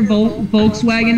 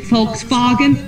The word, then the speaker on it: Volkswagen: With a W, then it said like a V. Yeah. Yeah, that's why I'm like, every time I hear Volkswagen nowadays, I like to say it's Volkswagen.